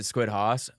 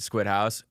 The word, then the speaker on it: SquidHaus: We pronounce it SquidHaus. Some people pronounce it SquidHaus.